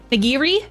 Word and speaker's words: nigiri: The fish on top of the rice is called nigiri.